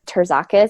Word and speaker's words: Terzakis: name is Jessica and my last name is pronounced Jacques I think you'll you'll spell that out in